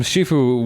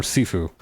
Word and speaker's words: Sifu: Like that thing from Shifu was technically or Sifu. I need to remember to use the Cantonese pronunciation.